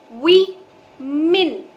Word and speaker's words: women: गौर से जानिएगा, इस वर्ड का करेक्ट प्रोनाउंसिएशन है वी मिन. जैसे कि आप MIN को प्रोनाउंस करेंगे मिन, उसको लगा दीजिए वू में, वू मिन.